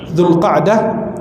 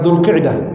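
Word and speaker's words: Zulqa'dah: bulan yang datang berturut-turut zulqdah bukan zulqidah zulqdah kata Syekh bin utsimin pelafalan tempatnya zulqdah Zulhijah bukan zulhajah Zulhijah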